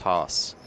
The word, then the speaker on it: Haas: Another American, so we both agree it's pronounced Haas.